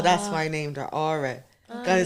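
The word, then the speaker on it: Ora: Well, aura is spelled O-R-A, Yeah.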